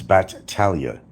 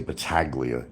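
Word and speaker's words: Battaglia: My name, the G is actually silent. It's Batalia. And you don't say Baglia because that's not what my real name is. It's Batalia. The G is silent.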